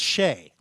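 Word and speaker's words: Skjei: out how to pronounce the guys name which was SK jei and he just gave up that was pronounced Shea so Brady Shay is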